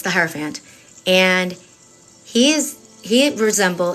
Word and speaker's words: hierophant: but it's the higher Hierro Fant okay and it's not font like a lot of people say which also drives me crazy but it's the hierophant and he is he